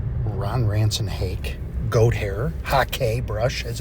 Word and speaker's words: hake: using the large Ron Ranson hake goat hair hake brush as it's properly pronounced so here's the thing I got this